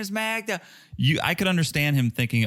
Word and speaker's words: Magda: So, yeah, apparently Joe thought her name was Magna, like Magna Carta. But, dude, it's spelled with a D. Yeah. Why would you, even if you pronounce it in an American way, you would still say Magda.